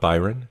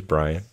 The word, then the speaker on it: Bryon: is spelled b-r-y-o-n uh it is not byron it is brian but uh brilliant brian